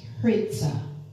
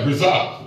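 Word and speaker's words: ῥίζα: The original word is pronounced hritza. Right, hritza.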